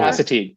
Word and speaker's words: Assateague: It's the this is going to be a dangerous one to pronounce. Assateague Island National Seashore. Oh, Assateague. Okay, Assateague. yeah. See, I was leaning away Sorry. from ass.